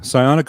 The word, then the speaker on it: Psionic: guys thanks for having me wait did Mark pronounce it right yeah psionic audio okay yeah I'm such a brilliant uh